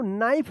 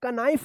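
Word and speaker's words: knife: पढ़ेंगे देखिए यहां पे एन से पहले के आया है तो के साइलेंट होगा इसको पहचानना आपको जरूरी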